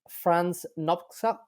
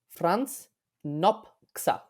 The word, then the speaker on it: Franz Nopcsa: example is queer person, very important in paleobiology, is Franz Nopcsa, and I'm hoping that I'm pronouncing that correctly. Could you say that again, please? Because I heard Franz something a little bit different. Franz Nopcsa.